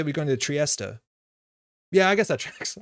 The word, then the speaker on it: Trieste: I noticed a lot of people don't pronounce the last E of Trieste, the final Trieste. The final T is like you pronounce terminal. Trieste.